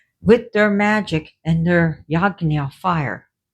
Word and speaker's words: yajna: So, with their magic and their yagna fire, it's spelled yajna, but it's pronounced yagna, and the sacred fires, out came a tiger to rush after Shiva.